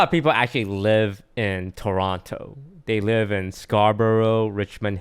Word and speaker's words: Toronto: We don't call it Toronto though. We call it Toronto.